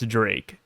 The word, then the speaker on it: Drake: bit but red flag X Drake pronounced as d as Drake yes um let me